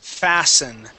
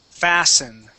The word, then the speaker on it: fasten: okay good now class this word is pronounced fasten T is silent fasten okay Gregory can I